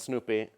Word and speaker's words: SnoopEE: what a service discovery and then i'll present snoopy it's pronounced Snoopy it used to be called snoop